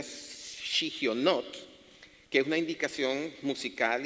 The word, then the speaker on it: Shigionot: palabra en hebreo que se llama o se pronuncia shigionot, que es una indicación musical y poética que